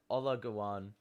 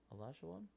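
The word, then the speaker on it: Olajuwon: typing because i can't you said ola gawan i'm pretty sure he's saying hakeem elijah won yeah um yeah but i that is not how you spell it allah o l a j u w o n a larger one yeah yeah um anyway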